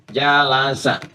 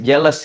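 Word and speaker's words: جلس: dari kata jalasa jalasa jalasa bacanya pakai bahasa Arab ya jangan pakai bahasa Inggris jealous gitu jalasa ya jalasa Apa arti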